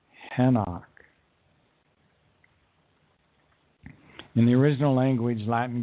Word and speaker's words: Enoch: known as Eliah and the person we call Enoch was known as henok in the original language